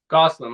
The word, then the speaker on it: Gosselin: do I pronounce it Gosselin? Gosselin, like Ryan Gosselin, my third cousin.